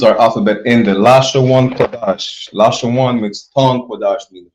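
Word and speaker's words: קדש: That's how you know it's Qadash and not Kadesh.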